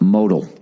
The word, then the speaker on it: modal: for your read note modal is pronounced modal mundis is made from